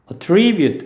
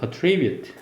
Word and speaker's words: attribute: 동사일 때는 attribute, re를 강하게 읽어요. attribute.